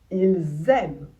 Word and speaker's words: ils aiment: Il parle, ils aiment. De nouveau, ici, il va falloir prononcer le S comme un Z.